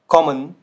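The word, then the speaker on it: kommen: तो इसका जो प्रोनाउंसिएशन होगा ये आपको शॉर्ट रखना होगा, शॉर्ट। पिछली स्लाइड में था आपका लेंदी, तो ये शॉर्ट रखना होगा। zum Beispiel मन, मन, कॉमन, कॉमन, वासर, वासर।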